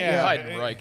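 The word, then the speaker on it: Heidenreich: Hide and Reich is how you say that. Hideenrike.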